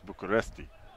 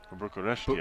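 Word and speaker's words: București: now they've decided that we have to say it by the Romanian name so it's bucharesti bucharesti I thinki is that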